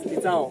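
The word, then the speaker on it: Kitsao: My name is Kitao. Itao. Kitao. Yes. Can you spell it? K-I-T-S-A-O. Oh, Kitao.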